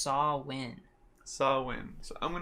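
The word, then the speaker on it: Samhain: I'm saying this wrong what I I say sam Hayne but it do not yeah they they actually say sam Hayne in the in the movie it's actually pronounced saw win saw win so I'm going to try to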